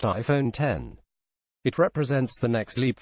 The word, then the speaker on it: iPhone X: just unveiled the much-anticipated iPhone X pronounced iPhone 10 it represents the next